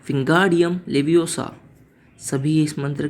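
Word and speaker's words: Wingardium Leviosa: तभी रॉन उसे प्रोनाउंस करता है विंगार्डियम लेवियोसा। हरमाइनी उसे रोकती है और उसे कहती है कि इसे ऐसे नहीं, इसे कहती है विंगार्डियम लेवियोसा, ना कि ओसा।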